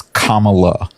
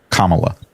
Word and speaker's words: Kamala: Um, but when you pronounce her name, it's Kamala. Kamala.